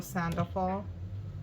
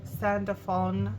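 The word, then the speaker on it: Sandalphon: right this is Archangel sandal sandone I said it wrong the first time right this is your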